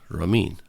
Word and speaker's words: Ramin: name is Ramin r-a-m-i-n Romine and in order for people to understand and can pronounce my name right I always tell him raw like a raw mean like a mean but I'm not raw